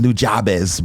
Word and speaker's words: Nujabes: people will be like oh no it's pronounced nujabes bro like now it's different